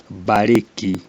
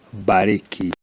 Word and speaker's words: Mbarĩki: like in the word bariki, castor oil, bariki. When a Kikuyu speaks, you may hear as if it's a plain B, but when it's written, it has to have the M, bariki, castor oil.